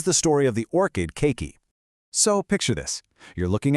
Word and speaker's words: keiki: It's pronounced keiki, and it's the Hawaiian word for the little one.